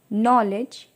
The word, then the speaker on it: knowledge: अब के knife, no, नॉलेज। इन सभी में हमारा के साउंड साइलेंट है।